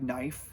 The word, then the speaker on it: knife: been pronounced knif so you would have pronounce the k and the e at the end and so choser is